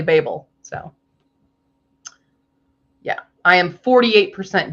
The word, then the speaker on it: Babel: which I love about everyone is really confused how to pronounce it when like if they pronounce it both ways in the book it's pretty funny that way Babble because they're babblers but they go to Babel but it's definitely Babel so yeah I am